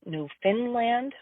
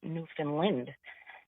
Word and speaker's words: Newfoundland: I don't think anybody actually says Newfoundland, but definitely here on the Atlantic coast, we would pronounce it Newfoundland or Newfoundland.